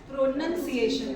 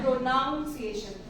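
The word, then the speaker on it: pronunciation: पीछे नहीं आएंगे okay and प्रोनाउंस एशन would be called as प्रोनंसिएशन would be called as प्रोनंसिएशन नॉट प्रोनाउंस एशन okay that is रंग okay so एमी गडी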